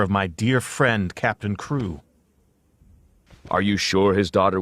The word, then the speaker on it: Crewe: The French headmistress pronounced the student's name Carew instead of Crewe.